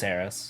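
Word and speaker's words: Eros: sure uh heiress aries e-r-o-s oh e-o okay euros errors how do you pronounce it i think it's harris harris yeah okay i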